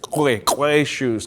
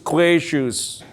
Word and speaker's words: Qwa Shus: She says, "Don't say it like those ones over there. Say it like you're supposed to say it. Qwa Shus, Qwa Shus.